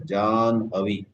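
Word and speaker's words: Jahnavi: Then she got the name Jan Havi written as Jah Navi but I believe to be pronounced as John Havi.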